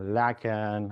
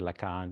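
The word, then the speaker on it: Lacan: from different fields uh laan I I like to pronounce it Lan right laan um um from psychoanalysis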